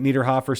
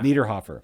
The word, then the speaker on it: Niederhofer: Niederhofer, spelled N-I-E. It's spelled correctly on screen.